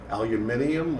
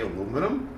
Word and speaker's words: aluminium: So we deal in steels as well as we deal with aluminium, or as the Americans say, aluminum.